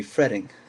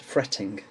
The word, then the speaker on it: fretting: With an American accent it would be fretting. The T's would become like a soft D sound, and with my accent the T's are pronounced fretting.